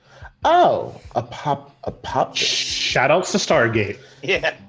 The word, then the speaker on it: Apophis: It's Apophis. Apophis. Oh, Apophis.